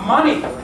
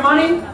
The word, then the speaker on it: money: So, to save up money. ¿Cómo se pronuncia money? ¿Sabéis pronunciar miel? Honey. Yo he oído mucha gente decir money. Como con una O, ¿no? Es como honey.